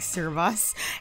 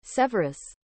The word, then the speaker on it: Severus: I keep saying Servus. It may not be pronounced as Servus. It might be like... Give me a second. Severus. Severus. Bro's name is Severus.